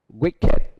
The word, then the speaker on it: wicked: Wicked. Beloved. Beloved. Sacred. Sacred. Hatred. Hatred. Hatred. Đó. Naked. Wicked, beloved, sacred, hatred. Đó là những cái được phát âm ed được phát âm là it.